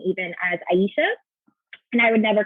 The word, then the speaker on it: Ayesha: tell people like you know my name is Aisha and they'd be like yeah Aisha and you'd